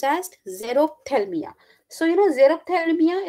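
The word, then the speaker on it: xerophthalmia: on to the deficiency which is known as zero Thelma okay what it is pronounced as zerothalmia so you know Xerox thermia is nothing it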